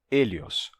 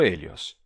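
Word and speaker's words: ἥλιος: O Hélios. Tá? Vou usar uma pronúncia do período Koiné, certo? Não vou usar a pronúncia do ático clássico, mas uma pronúncia do período Koiné, que é, inclusive, a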